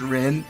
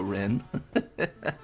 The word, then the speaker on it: Rin: It was Rin. That's the theory. It was Rin all along. Oh my gosh. Rin's name does rhyme with sin, and that's honestly evidence enough to convict.